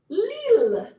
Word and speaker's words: Lille: Numéro 8, c'est la ville de Lille. L-I-L-L-E. C'est la ville de Lille. It rhymes even.